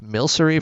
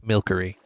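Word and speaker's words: Milcery: And honestly, these guys remind me of Milsery from Pokemon. Some of you might have pronounced it Milkery, which honestly I wouldn't blame you.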